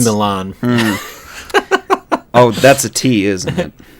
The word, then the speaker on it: Milan: it's on the right milin yeah no that's in Italy no that's pronounced Milan oh that's a te